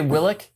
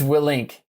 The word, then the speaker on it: Willink: Did you say Willick? Willick. It's Willink. My bad. I No. said it wrong.